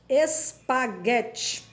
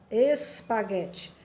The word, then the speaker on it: espaguete: No caso de espaguete, pronunciamos de, mas a escrita é o E, né?